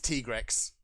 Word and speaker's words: Tigrex: Capcom's reasoning behind it the pronunciation is Teague Rex but yeah I guess